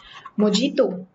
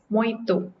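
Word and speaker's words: mojito: से प्रोनाउंस करते हो मोजीतो इट मोहितो अगेन ह और य को मिला के साउंड निकाली जाती है ज वाली साउंड य पर भी नहीं आती मतो नेक्स्ट में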